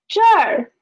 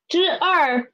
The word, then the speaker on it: 这儿: So we can see here is this plus a er, zhe plus a er, and there is na plus a er, that plus a er, nar.